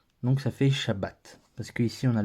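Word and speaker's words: שבת: a pas de voyelles on prononce juste comment elle doit se prononcer sans rien ajouter et en fin de syllabes elle ferme la scie là et donc ce mot là ce lit Shabbat donc ici on voit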